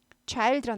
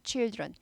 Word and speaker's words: children: 이게 아이 발음이죠 그런데 복수일 때는 좌일드런 아니고 children에서 취이 발음으로 바뀌는 거죠 칠드런 아이들의 어린이들의 조언은 구역이라고